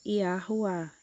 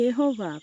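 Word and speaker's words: יהוה: rei não é verdade a pronúncia sem os sinais massoréticos é iua iar Roar Ok com a regra gramatical de hebraico antigo se você ler com sinais massoréticos você vai ler como Iva mas a pronúncia não é yá OK e nem yova por favor e porque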